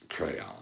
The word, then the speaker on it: crayon: Crayon would be crayon. The way we say it would be with a capital A. If you wanted to spell it out in pronunciation, that would represent a long A, which makes an A sound.